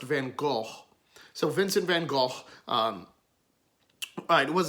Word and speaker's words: Van Gogh: Now, I know a lot of people say Van Gogh. That's the Americanized version of his name. Vincent's Dutch, so his name would be pronounced Van Gogh.